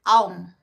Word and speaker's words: Om: We all know Om, right? Om, O-M, is actually pronounced Aum, A-U-M.